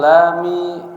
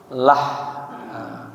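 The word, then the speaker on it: لحد: Bi fathil lami wa dhammiha, boleh dibaca ya lah ya, difathahkan huruf lamnya la. Wa dhammiha boleh juga dibaca dhammah, jadi lu boleh la, boleh lu.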